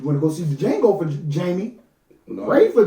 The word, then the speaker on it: Django: You went to go see the Django for First of all, Jamie? the D is Oh silent.